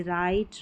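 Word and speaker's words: write: इसको र करके प्रोनाउंस करेंगे। डब्ल्यू साइलेंट है जैसे राइट रॉन्ग रैप ईजी है ऑलरेडी बता गया बता दिया गया है राइट wrong rap डब्ल्यू आर में डब्ल्यू साइलेंट रहता है के एन में के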